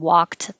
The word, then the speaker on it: walked: But for the past tense of walked, the D sounds like a T.